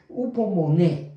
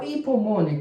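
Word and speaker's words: ὑπομονή: La palabra griega que utiliza Pablo es upomone, ¿verdad? O hipomone, como usted quiera pronunciarlo.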